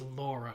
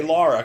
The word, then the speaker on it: Lara: lara croft i mean it was originally supposed to be laura and they changed it so don't like pronounce it however the you want she says lara i try um i say lara cause